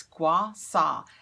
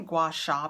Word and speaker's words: gua sha: Vanessa and that's and I had to look up how to say it it's Gua saw and I want to say Gua Sha because there's an H in there but when I looked it up its Wausau it's a Chinese method